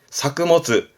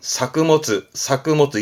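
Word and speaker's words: 作物: 농작물의 작물만 쓴 발음은 사크모츠. 의미는 같은데 이때 발음은 바뀐다는 거 중요합니다. 작물만 쓰면 발음은 사크모츠 잊지 마시고요.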